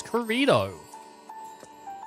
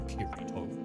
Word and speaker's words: Kirito: He was Corrido. Huh. Gamer brat. Kirito. He was Kirito. There you go. In case anyone was like, you said it wrong. It's actually Kirito.